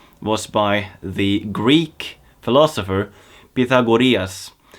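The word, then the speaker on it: Pythagoras: by the Greek philosopher Pita gorillas where he actually spoke about vegetarian diets yes that's how you pronounce it well it's a vegan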